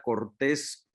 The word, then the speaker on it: Cortés: Hoy es la segunda parte y tenemos a Yolanda Cortés con S y acento en la E.